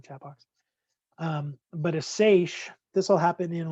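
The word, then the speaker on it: seiche: have these things that are called excuse me sachas it's spelled s-e-i-c-h-e i think if i remember correctly just put in the chat box um but a sache this will happen in like a harbor where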